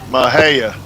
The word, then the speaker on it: Mexia: Mahia. Oh, Mahia? Oh, like Oaxacan. stuff. Yep. Okay. Oh, it's using the other English pronunciations of the letters.